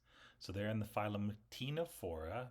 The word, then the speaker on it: Ctenophora: they're in the phm Tino for the sea is silent um and the Tino